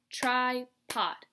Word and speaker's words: tripod: If you clap out tripod, tri-pod. We have tri and pod. Now look at this letter. This is at the end of that first syllable, so it is an open syllable, remember? That's why it has the long I sound.